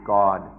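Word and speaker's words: กฎ: interesting that in hi the word for law is goat goat which is very close to God or Thais pronounce it God so we're this coincidence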